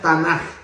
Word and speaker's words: Tanaj: T-N-K-O-J, se pronuncia Tanaj, agregando las dos vocales A.